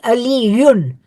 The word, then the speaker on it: Aliyun: In the subjective case, where this name is the subject of the sentence, it would be Aliyun, Aliyun.